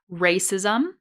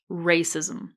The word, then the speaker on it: racism: It really depends on how much you reduce the vowel sound in the final syllable. Okay, so both are correct. Racism or racism.